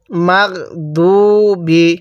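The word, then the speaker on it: المغضوب: মা দত ওয়াও পেশ দু বা জারের বি মাগদুবি কিভাবে পড়বো মাগদুবি এরকম ভাবে শিখবো এরপরে আইন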